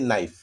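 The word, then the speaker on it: knife: जैसे यहाँ देखिए नाइफ, नाइफ, यहाँ देखिए नाइफ, यहाँ के है लेकिन के जो है वो साइलेंट हो गया है।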